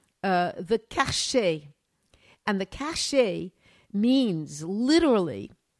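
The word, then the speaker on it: cachet: due process any courts so kashi can you spell that okay uh it it uh they call it so cas c-a-c-h-e-t yeah the cache it was like the stem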